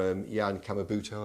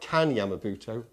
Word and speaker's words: Kan Yamamoto: Castle and Warrior, or Jan Yamamoto, I pronounced that right. Kan Yamamoto. Kan Yamamoto. We got there in the end.